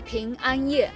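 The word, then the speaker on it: 平安夜: En chino, Nochebuena se dice Ping An Ye, algo así como la noche de paz, pero la sílaba Ping también suena como manzana.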